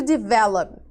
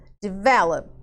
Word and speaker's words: develop: Então, olha lá, eu tenho aqui, ó, a palavra, o verbo to develop, para desenvolver. Olha lá, develop, develop, tá? A minha sílaba mais forte é aqui no VE e não no CVC, tá?